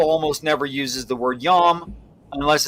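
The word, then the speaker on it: ים: um is in the in the Hebrew is yam like you pronounce it y a WM I mean if you spelled it in English right um so that's a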